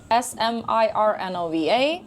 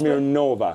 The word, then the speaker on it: Smirnova: S M I R N O V A SNOVA. That's Smeirnova. Smirnova because I was pronouncing Smeirnova. I know. But that's okay. But it's Smirnova. Yeah, like vodka. Smirnov.